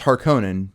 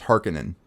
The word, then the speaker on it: Harkonnen: on this one right it's harkonnen but the way they pronounce it in this is harkenin yeah that's what they kept saying i don't like it